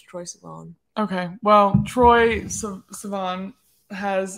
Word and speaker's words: Troye Sivan: Troye Sivan. I've always said Troye Sivan, but I'm pretty sure it's Troye Sivan.